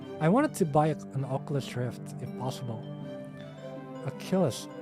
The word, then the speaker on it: Oculus: a pure setup I wanted to buy an Oculus Rift if possible Killers Oculus that's the way to pronounce it my Oculus Rift but I haven't